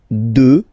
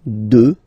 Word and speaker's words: deux: Deux. Final x not pronounced, okay? Deux.